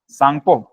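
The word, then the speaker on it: Tsangpo: है क्या है इंडस साको टी से क्या रहेगा सा है साइलेंट रहता है हैय साको कहलाता है इंडस साको सचर जोन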